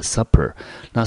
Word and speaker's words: supper: this 指的就是从事农业的那些人呢，他们呢中午吃得非常非常的丰盛。接下来 be followed by，这是一个片语，用被动语态，就是接着而来的，就是接着什么呢？吃完中餐，接下来的就是一个 light，一个比较清淡的 supper。那 supper 这个字呢，特别要注意到，它是两个 p 哦，它的意思叫做晚餐。如果你念成 super，就是超级的，多了一个 p，发音跟意思都不一样。所以呢，接下来呢，在这个丰盛的午餐中午餐之后呢，接着就是呢比较清淡的晚餐了。After the Industrial Revolution,